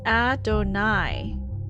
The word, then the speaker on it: Adonai: The name Sarah calls Morgan Ada is pronounced Adonai.